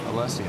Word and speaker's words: Alessia: Thank you for pronouncing her name correctly, Alessia.